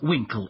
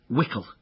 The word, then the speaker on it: Wickle: I said no no you said Winkle it's wickle h as in Cockle no no no not as in Cockle and Winkle as in uh wickle rhymes with pickle so your name's pickle